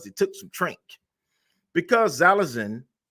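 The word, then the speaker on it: xylazine: took some drink because zalazin No Ex zylazin I'm gonna say it right hopefully I'm saying it right it's not an opioid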